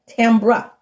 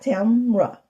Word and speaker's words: Tambra: Notice I say her name right. TAMBRA, not TAMBRA.